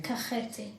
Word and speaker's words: Kakheti: How do I pronounce it? Kakheti? Kakheti.